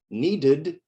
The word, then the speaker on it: needed: e d verb ending example in needed the ed sounds like id need is one syllable needed is two syllables because the e is not silent you say the e my supervisor repeated the